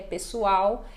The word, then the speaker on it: pessoal: aqui que também nós temos o hábito já do l a gente pronuncia com som de u né os L finais Então pessoal né eu diria pessoal E lá eles já